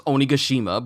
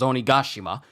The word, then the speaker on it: Onigashima: Because notice, in the past, recently even, when CP0 was on Onigashima, and I've been saying that name wrong, I thought it was Onigashima, but it was Onigashima, when Guernica was getting told to bring back Nico Robin at all costs.